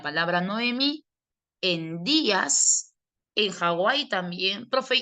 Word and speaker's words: Hawaii: Ah, porque la doble u suena como u. Ja. U i. Es u a i. Ahí la doble u suena como u y si suena a u lo puedes tomar como vocal u.